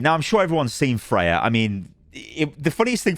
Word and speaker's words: Freja: Um, but they were calling her Friezia. Friezia. I'm like, what? Friezia. Anyway, it's Freya.